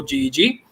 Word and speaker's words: GEG: That's GEG. That rhymes with egg. All other pronunciations are wrong.